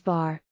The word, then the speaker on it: bear: We pronounced bear as bar.